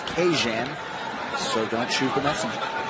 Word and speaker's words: Kajan: mr johnson this week his first name is to be pronounced cajun so don't shoot the